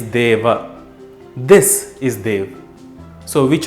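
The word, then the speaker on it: देव: If you thought Dev, you're only partially correct. It is Deva.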